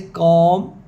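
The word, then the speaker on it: calm: तो ये वर्ड जैसे कॉम इसमें तो हम क्या करेंगे इसको इसमें पहले देखना है कि कसोनेंट्स कौन-कौन से हैं तो क है के है और एम है। एल यहां पे साइलेंट है।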